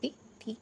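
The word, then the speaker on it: taught: टॉट का spelling है टी ए यू जी एस टी टी ए यू जी एच टी टॉट।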